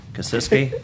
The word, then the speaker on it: Kasiski: Is it Kasisk? Kasiski? How do you say her last name? Kasiski.